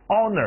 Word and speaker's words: honor: ，一起来 honor，你听 H 不发音 honor，这是一个荣誉，怎么说？